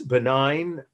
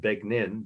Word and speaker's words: benign: Yes, benign, or as my aunt in Indiana call it, begnin, B-E-G-N-I, right?